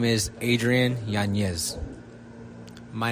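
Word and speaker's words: Yanez: So, if I was a host of a show and I had trouble saying that, I would just put another Y in the middle of it. Adrien Yanz.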